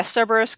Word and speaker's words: Cerberus: this kind of cyborg Kerberos is that how you pronounce it things maybe but close yeah Cerberus yeah yeah yeah anyway